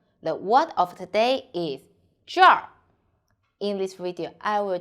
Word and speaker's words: 这儿: So when you see this one, you need to read zhèr first. And then when you finish it, roll your tongue. So zhèr.